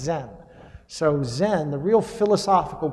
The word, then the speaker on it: Zen: religion called chan and chan in chinese got taken to japan where chan is pronounced zen so zen the real